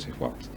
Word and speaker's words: swaps: Bueno, de esas reservas internacionales también forman parte los swaps. Es decir, ¿cómo se pronuncia?